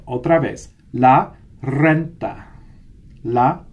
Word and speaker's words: renta: Didn't hear you guys roll your R's on that. Otra vez. La renta. La renta.